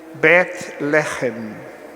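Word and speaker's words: בית לחם: chamamos a cidade da judéia em hebraico se pronuncia Betty let me in I Bet You let me in o eBay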